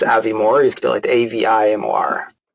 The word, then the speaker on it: Avimor: that for a year it's Avi Moore he's still at Avi